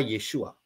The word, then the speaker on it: Yeshua: yang menjadi kata yesua ini Ini adalah kata yesua yang bacanya dari kanan y w Ayin ya kalau